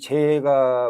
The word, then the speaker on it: 齊: 좀 보여야 됩니다요 제자이 재가 우리가 가지러 날 제자입니다 지금 우리가 어 뭐 제가 할 때이 제자 쓰죠 그렇지만 어 제 아까 발음이 어떻게 들리는지 모르겠지만 재로 읽어야 됩니다 재 제가 아니고 재 재 그래서 제가 여기 성교